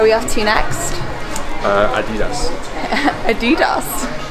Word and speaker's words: Adidas: Adidas? Yeah, that's how you say it. German.